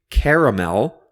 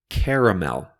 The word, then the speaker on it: caramel: or ingredient in candy some people say caramel with three syllables caramel but other people say